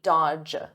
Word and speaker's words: dodge: Notice here, the D is silent, the middle D, dodge, dodge.